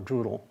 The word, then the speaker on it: Druid Hill: The portion of the ward lying south of Druidle Park, and that's how you say it in Baltimore, Druidle, bounded on the east by Mount Royal Terrace, south North Avenue, west and Reisterstown Road.